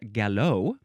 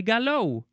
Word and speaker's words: galop: Or it can be galop. It is spelled Galop, so it looks like gallop or gallop, but it is, well, gallop.